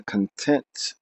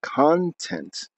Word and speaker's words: content: the feeling and yes I have intentionally pronounced content and content c-o-n-t-e-n-t means content means that which is included and content means that which makes me happy Maya or Dunya are